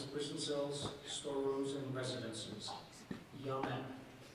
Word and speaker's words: yamen: Yamen. Language of origin, please. Language of origin is Chinese.